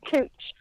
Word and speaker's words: Couch: It's called Cooch, but it's spelled couch.